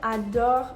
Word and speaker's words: adore: The E at the end of adore is silent because it's at the end of a word following a consonant.